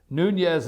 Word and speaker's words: Nunes: to thank you noon yes nuñez is the guys name and seems to be the pronunciation chairman Nunez so thank